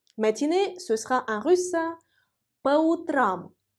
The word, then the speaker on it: по утрам: ce sera en russe по утрам. По утрам. Faites s'il vous plaît attention au changement de l'accent tonique.